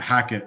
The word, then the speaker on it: Hackett: welcome now is it uh um hackit I didn't make sure I pronounced your last name right yes yeah hackit yep that's it and I'm happy to should